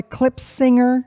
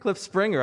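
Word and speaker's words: Klipspringer: Can you even pronounce its name? It's a Clip Singer. Clip Springer.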